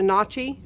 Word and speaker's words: Nachi: number of this bearing it's a notchy and that's spelled nachi this is an oem